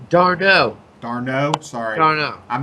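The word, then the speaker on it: d'Arnaud: So, I do, however, like me some Asdrubal Cabrera and Travis Denard as a little mini stack at the bottom of that Mets lineup. I have to be your name pronouncer. Darno.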